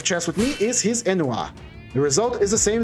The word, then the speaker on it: ennui: Ennui, how it's pronounced. Ennui, ennui, ennui.